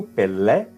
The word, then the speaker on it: Pelé: Então Pelé é o jogador, com acento, Pelé, e aqui, como não tem acento, a pronúncia será como I.